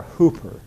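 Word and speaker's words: ὑπέρ: And in the Greek language, it's spelled H-U-P-E-R, hooper. It's a prefix. And it's exactly like our English prefix hyper.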